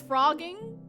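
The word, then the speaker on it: phrogging: So it's frogging, like a frog, like a hippity hop frog, but spelled with a PH.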